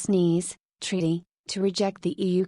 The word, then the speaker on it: Nice: reject the maastricht treaty the nice pronounced sneeze treaty to reject the